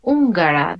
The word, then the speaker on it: húngara: Húngara. Hungary is Hungary. Yeah. Pardon, Hungary. Hungría. Yeah. When you will see this mark that is called tilde in Spanish, you have to increase your voice. Húngara.